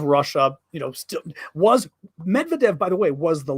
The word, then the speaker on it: Medvedev: stuggle's about to disappear MedVet Medvedev okay but I'm speaking English Medvedev I'm not going to